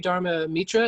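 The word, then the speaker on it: Dharma Mittra: studied um looking here practicing with uh sri dharma mitra is that did i pronounce that correct yep that's correct um and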